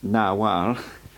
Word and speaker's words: Nagual: Nagual, produced Nahual, was the name given